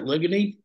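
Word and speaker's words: Ligonee: And how do you pronounce that? Ligany?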